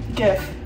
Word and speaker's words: GIF: GIF. They actually came out and said that it's like the peanut butter Jiffy. GIF.